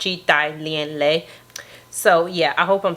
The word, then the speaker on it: Chi Thai Lien Le: pronouncing that right, because I looked it up and I listened to the pronunciation, and it said that it was pronounced Chi Thai Lien Le.